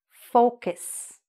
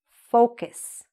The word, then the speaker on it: focus: And the very important, in this case, pronunciation part is that this word is pronounced focus. Say it after me, focus.